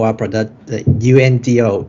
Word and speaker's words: UNDO: So regarding our project, we call our product the UNDO. In English, it's pronounced undo, but in Japanese, we call undo.